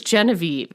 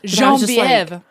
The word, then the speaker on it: Genevieve: And just so you know, I listened to the audio, and the audio narrator pronounces Genevieve in such a crazy French way. It's Genevieve.